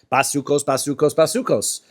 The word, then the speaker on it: basukos: Basukos. Right? It's read and pronounced basukos. Even though there's no vav, it's pronounced with a vav.